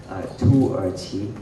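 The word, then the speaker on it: 土耳其: Tu Erqi is how you pronounce it in Mandarin.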